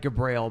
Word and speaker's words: Gabriel: a confusing Gabriel myself it's spelled like Gabrielle but pronounced Gabriel and on Facebook you